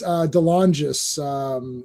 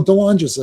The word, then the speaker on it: DeLongis: So anytime there's swords in play, you're going to see Anthony DeLongis, I think is how you, or DeLongis. No, DeLongis, I think is how you say his name.